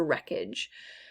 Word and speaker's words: wreckage: w it's not wha i don't hear what at all it's a silent w rhythm rhythm again silent